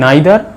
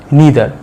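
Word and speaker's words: neither: এটাই আইদারটাকে আমরা দুভাবে উচ্চারণ করতে পারি, হয় আইদার না হলে ইদার। নাইদারটাকেও ঠিক একইভাবে হয় নাইদার নয় নিদার। তোমাদের যেটা পছন্দ সেটা তোমরা উচ্চারণ করবে, দুটোই ঠিক।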